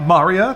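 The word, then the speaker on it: Maria: north into the mountains Marya the Maurya that's how they say it here Marya the opera singer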